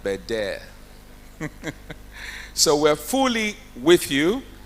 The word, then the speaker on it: Bendel: Like the Deputy Governor said, you know, it's Bendel, but it's pronounced Beder.